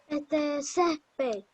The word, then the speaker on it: césped: ¿Cuál es la sílaba donde lleva el acento, Andrés? Mira. Ces. Ces. Con C de casa, diga. Ces. Repítelo, Santiaguito. Ces. Muy bien.